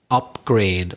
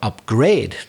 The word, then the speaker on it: upgrade: also has other applications is upgrade or upgrade depending on whether it's a noun or a verb here's an example as